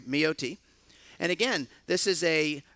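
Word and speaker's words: Mayotte: by the way and the pronunciation it's Maya T my OT sorry me OT and again this is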